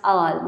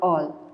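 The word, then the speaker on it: -al: You can remember it taking the first 2 letters of aldehyde, and it pronounced al, not all.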